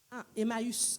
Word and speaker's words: Emmaüs: how you pronounce it in French? Emmaus. vers The two people walking to Emmaus. Emmaüs.